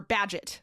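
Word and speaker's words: Bagehot: Okay, so Walter Beett, it's B A G- E H O T. I I looked up how to spell it, but it's like or Badget. Badget, a journalist and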